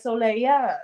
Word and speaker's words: Soléya: So I looked up how to say it in Haitian Creole, and it's Soleil. No, I Okay. added the because I thought it was cute. So it's like Soléya.